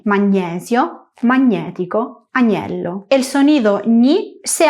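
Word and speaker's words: magnetico: Recuerda que en español decimos magnesio y magnético pronunciando tal cual se escribe, pero en italiano g n e es ño, magnético, año.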